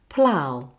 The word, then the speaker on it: plough: Finally, put it all together with ow, like this. Plough. Now you try.